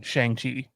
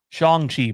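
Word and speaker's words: Shang-Chi: freddie has been hyping shangti shang chi pardon me as kevin foggy wants us to pronounce it uh big up for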